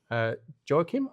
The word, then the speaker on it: Joacim: Joacim, have I pronounced that correctly? That's correct. Yes.